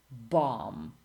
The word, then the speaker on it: bomb: Silent B. Bomb, climb, or debt or doubt, or comb or tomb.